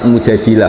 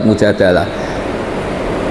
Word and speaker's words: Al-Mujadilah: Nah, di Juz 28 ada surah yang bernama Surah Al-Mujadilah. Ada pula yang membacanya sebagai Surat Al-Mujadalah.